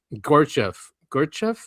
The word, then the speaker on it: Gurdjieff: Just remind me, I didn't put it in here, is that philosopher in the 1900s, Gurdjieff, is how you say his name, and he